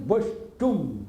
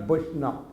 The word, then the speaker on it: Vaishnava: by many imitationists, and Vaishnava, this word, the Bengali section not happily pronouncing. They are telling Vaishtum, not Vaishnava, like that.